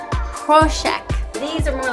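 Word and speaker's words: Prošek: to a pork and it's pronounced proshack these are more like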